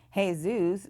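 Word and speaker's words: Jesús: right many traditional Hispanic names are actually not pronounced like they're spelled such as Ximena which starts with an X hey zoos which would look like Jesus and Jorge which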